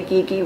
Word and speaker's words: Gui Gui: Some people say Gigi, some people say Gui Gui. When I went to look for a translation, it said Gui Gui. So don't tell me that I'm saying it wrong, because they're both ways were out there.